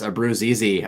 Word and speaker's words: Abruzzese: Abruzzese, I think is how you say it.